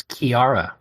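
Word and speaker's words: Ciara: Like, there's one point where, oh boy, Michael, her name is Sierra, but it's not Sierra, and I refuse to pronounce it correctly. What is her name? Can't do it. It's Kiara. Yeah, it's Kiara, not Sierra, Kiara, but where are we getting a Kiara?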